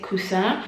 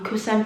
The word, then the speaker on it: croissant: I think in French you pronounce it croissant, and croissant means pillow, so it's a pillow bag essentially.